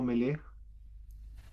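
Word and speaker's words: מלך: Así como el Señor o Jehová, pues me melej mele. Claro. Entonces sería como Jehová es rey, el Señor es rey. Melej pronuncia mele o meleg. Melej. Mele.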